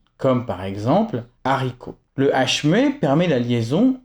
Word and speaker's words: haricot: Le H aspiré interdit toute liaison donc il sera toujours séparé du mot précédent comme par exemple haricot.